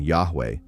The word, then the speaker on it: Yahweh: certainty, but most scholars accept the vocalization Yahweh based on several ancient sources that preserve what appear to be the original vowels, including early Greek transliterations